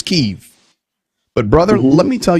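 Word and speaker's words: Kyiv: it's so close to downtown keeve people don't understand how okay it's keiv but brother let me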